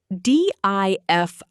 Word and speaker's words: diffident: Diffident, pronounced D-I-F-I-dunt.